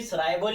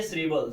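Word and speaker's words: shrivel: दो प्रोनाउंसिएशन है इसकी। सराइवल या श्रीबल।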